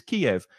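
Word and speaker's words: Kyiv: It was always Kiev. Suddenly, it's now pronounced on the news Kiev with just 1 syllable.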